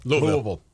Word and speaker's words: Louisville: it I almost Louisville Louisville you'll have to give me some Lou almost like it's one syllable enunciation Louisville okay I'll work on that like you're swallowing your tongue you know yes that